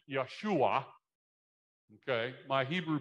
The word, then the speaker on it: Yeshua: Hebrew word Joshua Joshua in Hebrew it sounds more like Yeshua okay my Hebrew pronunciation I'm told is okay but it's not great but it's Yeshua okay Joshua Yeshua means